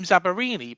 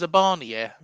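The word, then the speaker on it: Zabarnyi: I used to call him Zabarini, but he's pronounced Zabania.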